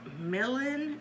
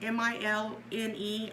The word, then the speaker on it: Milne: this is by a a Milan melon m-i-l-n-e I I can't pronounce things guys Milne they've helped me Mr crazy uh Milne